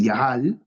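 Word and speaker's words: יחל: destacan del término hebreo se pronunciaría más o menos eh yahal sería como el verbo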